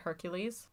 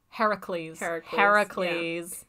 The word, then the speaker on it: Heracles: How do you say Hercules? Like the actual Greek way? Not the Roman way? Because Romans say it Hercules. Heracles.